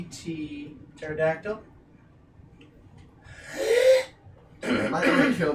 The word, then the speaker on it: Pterodactyl: It's called Pterodactyl. It's a pterodactyl. The B Yep. is silent. You got it.